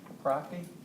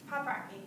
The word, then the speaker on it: Paprocki: Poprocki? I'm sorry? Poprocki, is that the correct pronunciation? Paprocki.